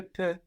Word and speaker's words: peux: With un peu, we have P-E-U, but then with je peux, I can, we have P-E-U-X, but we don't pronounce that X.